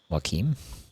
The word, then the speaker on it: Joaquim: Joaquim. Pronounced like a K, like a K sound.